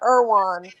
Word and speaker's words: Erewhon: and y'all be like Irwan, like they doing way too much, and you see a lot of celebrities there, and it's spelled Erewhon. So Irwan.